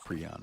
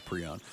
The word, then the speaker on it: prion: spelled out phonetically how it's supposed to be pronounced um so then I was like okay I'm going to stick with pron now it's the guy that came up with